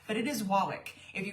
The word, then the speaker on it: Wawak: Most of us say Wawak. I called them because I wanted to know. It's Wawak, which sounds really weird.